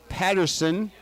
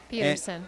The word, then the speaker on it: Peterson: talked about the environment her name is Patterson Peterson Peterson uh you know I've got this spelled wrong everywhere so we're check this out Peterson it's Peterson and is working